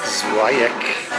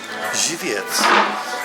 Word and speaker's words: Żywiec: I thought it's pronounced Zwajek. It's actually pronounced Żywiec.